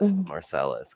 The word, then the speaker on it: Marcellus: There's a town that is called Marcellus, but it's a French word, and it would be pronounced Marseille in mm, French. But we don't call it that. We just call it Marcellus because that's what Michigan does, and apparently that's what Arizona does.